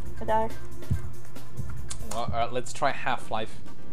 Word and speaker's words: die: D, which is just written die, it's pronounced D, is either when talking about a female gender or the middle gender in plural.